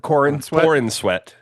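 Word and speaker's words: Corenswet: Um, and then David Corin Corweat. Is that how do you say it? Is that how you say? Yeah. Yeah. Corin Sweat.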